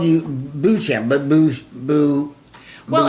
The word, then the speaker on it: Beauchamp: So I always called you Beauchamp, but well, it's Beauchamp. It's really an interesting name because there's really no incorrect pronunciation. Yeah. Depending on what part of the country you're from.